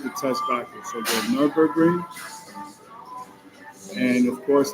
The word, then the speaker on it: Nürburgring: Nürburgring. The green hell redirects for other users. The Nürburgring, German pronunciation, Nürburgring.